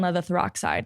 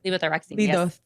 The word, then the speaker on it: levothyroxine: And what's funny is, so I was on levothyroxide. I think that's how you say it. Levothyroxine. Yeah. I'll leave it to the doctor.